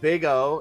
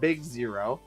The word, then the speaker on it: Big O: big O analysis pronounced big O not big zero which is only funny